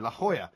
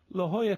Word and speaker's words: La Jolla: La Jolla, California. La Jolla. It sounds like Hawaii, doesn't it? It does. Aloha, You know, it's La spelt Jolla. it's spelt La Jolla.